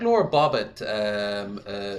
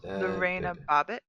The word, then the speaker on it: Lorena Bobbitt: hmm like Laura Bobbitt. Was that how you pronounce her name? Laura Bobbitt. Laura Bobbitt. Lorena Bobbitt, The reign of Bobbitt.